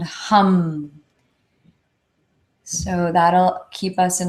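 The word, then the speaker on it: ham: H hum the sound vibration is hum h a m but it's pronounced hum so let's do three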